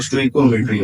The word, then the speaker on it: stoichiometry: करते हो, तो उसको स्टीशियोमेट्री कहते हैं। या स्टोइकोमेट्री, इसका स्टोइकोमेट्री जो है आप जब प्रोनाउंस करोगे, गूगल पे सर्च करेंगे तो फिर इसका जो प्रोनाउंसिएशन आता है वो स्टोइकोमेट्री आता है।